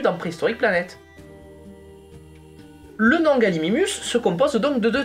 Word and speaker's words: Gallimimus: beaucoup de gens ont tendance à faire l'erreur et à appeler galimimus galiminus mais en fait c'est une erreur dans le SCP de Jurassic Park notamment dans la version française où il est bien prononcé galiminus alors que galiminus ça n'existe pas Gal galiminus on retrouve